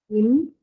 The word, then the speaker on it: improve: But in improve, per is part of the stress syllable and it also appears in the beginning of the stress syllable, right?